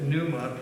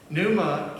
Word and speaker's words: pneuma: jesus spoke in greek the word for spirit pneuma p and e u m a is how we spell it in english pneuma can be also translated as wind and breath